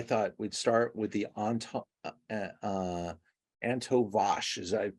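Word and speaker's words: Antão Vaz: And so I thought we'd start with the Antovash. Is I pronounce that correct? Antanvas, yes, that is the varietal, the main varietal, and the only varietal here in this wine.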